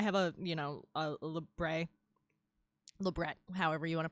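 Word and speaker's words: labret: a you know a lebret however you want to pronounce it it's technically French so it's lbre um and uh yeah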